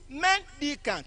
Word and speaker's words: mendicant: Mendicant. Mi, re, do. You can see now. It has a different stress pattern.